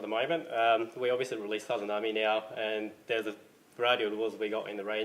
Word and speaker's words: Sazanami: You're in charge of designing some of the lures, including the new, how do I pronounce it? Sazanami. Sazanami, yep.